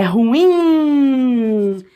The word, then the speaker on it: ruim: É ruim, mais forte aqui no in, né? Quem fala ruim, foca no RU, tá errando a prosódia, porque a sílaba tônica ou a acentuação da palavra não tá no RU. Mesma coisa, essa daqui bastante polêmica, né?